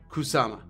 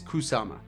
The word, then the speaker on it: Kusama: So Kusama, and I'm sorry, I been mispronouncing that. That's Kusama. It is Kusama.